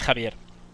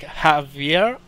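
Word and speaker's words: Javier: life blog sometime well my real name is kavier um which is pretty funny because for English speaking people it's very hard to pronounce because they don't really use the ofier so it's time I'm introduce it into to someone who's English or American have a laugh because it's like Havier Havier no is half year half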